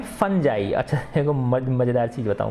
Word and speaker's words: fungi: वैसे नॉर्मली हम देखेंगे तो फुंगी बोलेंगे ज्यादातर कोई बच्चा, ठीक है ना, लेकिन ये इसका उच्चारण कैसे होता है, फंजाई होता है।